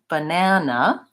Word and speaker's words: banana: So banana, the key takeaway from this is that the middle syllable is the stressed syllable.